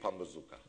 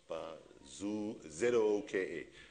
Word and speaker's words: Pambazuka: If you're from Africa, I say go read Pambazuka. Okay, anybody from Africa, anybody heard of Pambazuka? It sounds like a weapon, but it's an intellectual weapon. I'm going to get really serious now. Spell it. So Pambazooka, right?